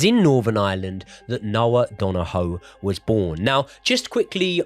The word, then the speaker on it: Donohoe: It is Noah Dono rather than Donna Hugh the way I was pronouncing it.